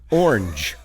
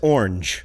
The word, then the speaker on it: orange: Orange. Did I say it right that time? You said it my way, yeah. That car is orange. Nope, it's so hard to say in 1 syllable.